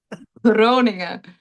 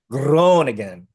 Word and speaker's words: Groningen: How do you pronounce it? Groningen? Groningen. Groningen.